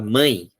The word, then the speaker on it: mãe: mão e a palavra mãe, né? Mãe, mão, né? Parece que ela puxa um pouco com o som nasal, ele puxa um pouco a sonoridade do I e do U.